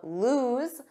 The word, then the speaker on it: lose: with the spelling of lose which has one o and a different pronunciation because notice that z z lose lose repeat after me lose but not tight loose